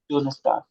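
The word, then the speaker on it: Donnerstag: Done star done Stark done star.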